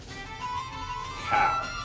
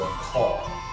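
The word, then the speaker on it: cawl: The food, the national dish in Wales is cow or caw, all depending on how you say it.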